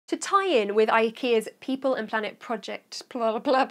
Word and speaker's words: IKEA: So I'm currently doing a project which has been set up by IKEA, although I've just found out that that's pronounced IKEA instead of IKEA. We're all saying it wrong.